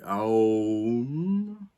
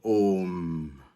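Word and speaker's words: ॐ: Alors, selon les cultures et selon les endroits, le son Om est prononcé Aum ou bien Om.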